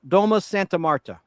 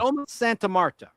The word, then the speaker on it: Domus Santa Marta: How do you say that, Al? Domus Santa Marta. Domus? That's good enough. It's kind of Domus Santa Marta.